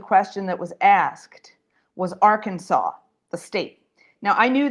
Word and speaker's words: Arkansas: And our teacher said, oh, yeah, it is, but actually it's written Arkansas, Colleen, but it's pronounced Arkansas.